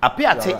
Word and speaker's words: Apiate: gathered so far let's get to them uh apiace is that the correct pronunciation honorable mr yes apiate is a village along the takwa bogoso ayam